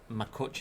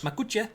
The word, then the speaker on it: Makuch: I'd have said Makuch as in much, but then again, it could be. Who knows? Makuch.